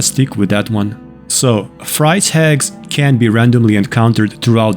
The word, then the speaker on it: Fryse Hags: someone pronouncing it as Fri hags which is probably a standard English way to say it so in this video I'm going to stick with that one so Fri hags can be randomly encountered